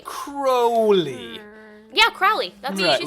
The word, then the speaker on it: Crowley: The word is holy, which rhymes with Crowley. Crowley.